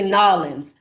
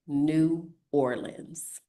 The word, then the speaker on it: New Orleans: It's actually N'awlins. Nobody says that, either. Only tourists say N'awlins. We do not say that. We say New Orleans.